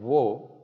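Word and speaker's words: を: hindi no and then whoa which is used as a particle and it is pronounced as Oh just as an O okay that's it we're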